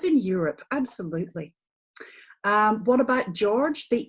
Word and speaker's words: Georg: way whatsoever and actually if you look at the Germanic versions of George its Georg like that the e is pronounced there a + u u let's